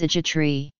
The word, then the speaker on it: egetræ: Oak tree in Danish is egetræ. The G in egetræ is silent.